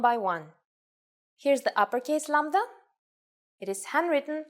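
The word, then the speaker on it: λάμδα: It's lambda, the Greek version of L, and it sounds pretty much like the English L.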